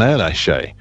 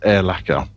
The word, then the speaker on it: Erlacher: I'll be honest, the first time I heard it, it was pronounced Erlacher. That's what I would have said, to be honest.